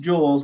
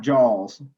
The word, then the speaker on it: joule: units is joules and it's pronounced jewels not jaws okay i know that